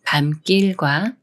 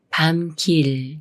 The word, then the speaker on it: 밤길: 연습해 볼게요이 남 말은 밤길 밤길 중에 어떻게 읽어 할까요 미음 받침이 초선 기억을 만났으니까 초선 기억이 쌍기역 수리인 끄아 되면서 밤 길이라고 읽어요 밤길이 말은 감동과 감동